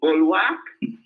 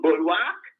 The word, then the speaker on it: bulwark: Bulwark? Madam, did they teach you that at Ivy High School? That the word is pronounced bulwark?